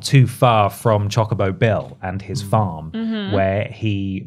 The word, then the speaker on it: Chocobo: there is chobo racing chobo I purposely mispronounced I'm sorry it's Chocobo racing yeah chocoo Chocobo are